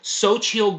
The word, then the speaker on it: Xochitl: Plus, Michael Stolberg, and I apologize if I mispronounce this, Xochitl, let me see if I can, Xochitl, okay, that's how you pronounce it, Xochitl Gomez.